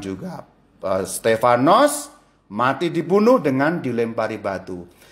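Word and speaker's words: Στέφανος: Stefanus dalam ejaan Yunani Kalau Anda Baca Alkitab dalam bahasa Yunani Stefanus to berbunyi stefanos dalam praksis apostol on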